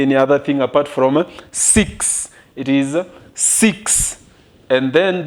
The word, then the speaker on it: six: Let me tell you about this, because you might be tempted to pronounce the English way as the spelling is the same. In French, we say six. We don't say six. We don't say six.